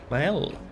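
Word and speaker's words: Maelle: So it is an L sound. Mael.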